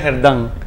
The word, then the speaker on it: Gerdan: Porque yo lo digo al inglés, Gerdan Sodo. No sí, sé no, mi nombre es Gerdan. Gerdan. Lo que no, todo el mundo me dice Gerdan Sodo.